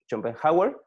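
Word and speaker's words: Schopenhauer: llama así y hay un filósofo efe se pronuncia rompen hauer que dicen como te das a respetar pues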